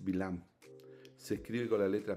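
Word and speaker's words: בלעם: El nombre hebreo es Bilam.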